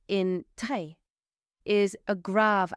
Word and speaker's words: très: The letter E with a grave accent should be pronounced like the E in the English word said. So if you take the F and the D away, you're left with E. So très.